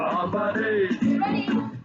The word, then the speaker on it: Hafa Adai: Just pronounce it as in half a day. Sing it with a beat and say it every day. Like Hafa, Hafa, Hafa, Hafa Day.